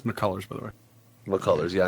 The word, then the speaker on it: McCullers: It's McCullers, by the way. McCullers, yeah, I know. I always pronounce his name wrong.